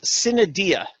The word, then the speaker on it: sine die: It's sine die is actually the proper pronunciation, and it means until a certain date.